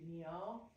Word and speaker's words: mio: It's all the emphasis is on the first part and not the second.